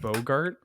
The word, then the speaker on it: Boggart: but just like hearing boger mob now makes me think it's going to be from a commander set or like from tempest is it supposed to be pronounced bogart yes just it seems